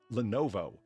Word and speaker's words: Lenovo: Lenovo. I always see it typed and never written or never heard it spoken. That's why I, you know, dropped the ball there. Lenovo.